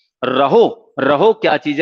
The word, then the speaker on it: rho: इसको डिनोट किससे किया जाता है, तो ये रहो बोलते हैं, RHO, रहो। तो रो बोलते हैं वैसे, RHO ये इसका प्रोनाउंसिएशन है, रहो।